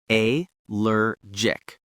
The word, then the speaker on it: allergic: A lergic. Two syllables with stress on the second syllable. The G is soft like a J sound.